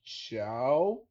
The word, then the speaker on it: Zhao: So I think it's pronounced Chloe Chow.